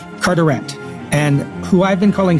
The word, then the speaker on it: Carteret: should have been called lord Carteret so pronounced in English not in French and that he's not from frost he's from the Channel Islands which are so much closer to France than England which is most closer to France than England but he still pronounces it curent and who I've been